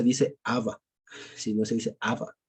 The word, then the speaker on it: Abba: Dicho sea de paso también entre paréntesis, no se dice Abba, sino se dice Abba, ¿no? Se dice Abba, ¿vale? Con acento en la última, ¿sí?